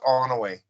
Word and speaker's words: Onaway: It's just Onaway. Onaway. Yeah, Onaway. O-N-O. Yeah, Onaway. O-N-O-W-A-Y. Onaway.